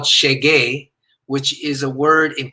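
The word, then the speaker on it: xeguei: so the name of the song is called chagey which is a word in portuguese which means i have arrived it's spelled x-e-g-u-e-i so i sent him the the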